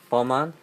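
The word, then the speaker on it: Vermont: 이제 그게 아니라 버몬트 카레 버만 원래 이 발음을 버만 하는데 버만트를 거의 안 합니다.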